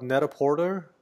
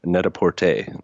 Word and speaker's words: Net-a-Porter: the what about you also mention something about net-a-porter oh yeah it's um it's actually that's how I pronounced it first to but it's pronounced very sophisticated ly net a port a I don't I don't I don't mean to